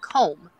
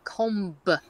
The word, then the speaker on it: comb: and he came across the word comb like a comb that's going comb oh oh blessed and